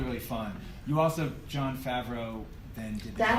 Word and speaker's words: Favreau: iron man's really really fun you also john favreau then did that how you say his name yeah yeah y'all have you ever seen it spelled out yeah i thought i have been calling him john farve who i think is a football player yeah